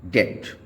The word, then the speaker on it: debt: बी अगर टी से पहले आता है तो ये साइलेंट हो जाता है, जैसे कि DOUBT डाउट, DEBT डेट।